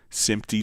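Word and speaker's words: SMPTE: would have uh like SIMY time code and it's spelled SMPT for Society of Motion Picture and Television Engineers. It's a professional organization for standards. Um so in simp time code would send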